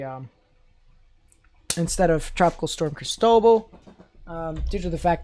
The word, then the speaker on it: Cristobal: pronounce the l too cristobal well there is a ratio again probably not oh well there's no l in the middle it's crisp oh ball rice dough ball um funny that the